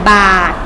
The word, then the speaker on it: บาตร: ไป คำ ว่า ใส่ บาตร ใส่ บาตร บ่ อ่า ต่อ บาท ค่ะ จังหวัด พิจิตร จอ อิ